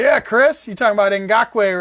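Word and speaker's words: Ngakoue: All right, here we go with the Yannick Oh boy, somebody told me how to pronounce this name. This is Ngakwe for the Jaguars.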